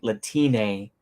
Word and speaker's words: Latine: My point is that it's pronounced the same way as Latino, but with Spanish E, which sounds like E rather than A. It's something like Latina rather than Latini.